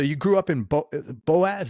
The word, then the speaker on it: Boaz: grew up in BO Boaz is that how you pronounce it yeah Boaz Alabama I I was born